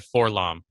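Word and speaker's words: 4-LOM: Yeah, I've always said Forlom, but I know that there's a LO. Everyone's trying to go with this LOM deal.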